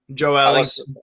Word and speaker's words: Joelinton: Joelinton, as they say in Brazil. That's actually his real name, how you pronounce it. Joelinton.